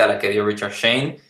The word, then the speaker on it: Schoen: pronunciamos ese nombre como Schoen, pero hace poquito leí que por sus orígenes o raíces se pronuncia como Shane, que no tiene nada que ver, pero bueno.